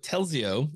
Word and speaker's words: Telzio: Now Peter's here with Telzio. Did I pronounce that correctly?